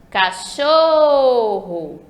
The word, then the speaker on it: cachorro: Cachorro. Olha como eu demorei falando show, esticado, assim, foi mais esticado. Então, a sílaba show é a sílaba tônica, a sílaba mais forte da palavra cachorro.